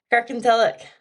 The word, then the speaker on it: Kirkintilloch: Kirkintilloch.